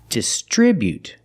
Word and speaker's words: distribute: this is just strip putting the stress on the second syllable distribute we see the bu together making the sound B not boo but bu distribute distribute with the